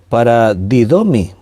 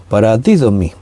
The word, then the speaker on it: paradidomi: La palabra entregar, aquí la palabra griega es paradidomi, así con acento en la i, paradidomi.